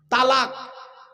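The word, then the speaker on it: طلاق: স্বামী তার স্ত্রীকে ডিভোর্স দেয় সেখানে একটা শব্দ উচ্চারণ করে তালাক বলে না আরে ভাই বলুন না আরে বউ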